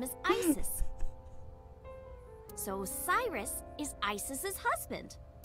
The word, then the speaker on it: Isis: horace's mom is named isis but in ancient egyptian it's pronounced closer to isa or asa huh it comes back